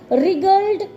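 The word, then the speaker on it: wriggled: tiny black creature that रिग्ड about a लॉट रिग्ड डब्ल्यू तो शुरू हो रहा है पर डब्ल्यू थे साइलेंट है ठीक है एस जेली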